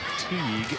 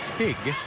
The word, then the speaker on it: Teague: He says the Melbourne coach's name, even though it looks like Teague, is pronounced Tig.